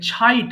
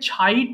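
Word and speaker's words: chide: slept slept ওকে ছাইট অর্থাৎ আমরা যখন ছ উচ্চারণ করব তখন অবশ্যই ছ বলবেন হ্যাঁ ছ আর ছ এর মধ্যে পার্থক্য করলে আমাদের ইংলিশে চ এর উচ্চারণ কেউ করে না বিদেশিরা ছয় বলে যে চাইল্ড চিকেন চিলড্রেন তো একইভাবে এটাকে অবশ্যই ছ উচ্চারণ করবেন তাহলে কি হবে ছাইট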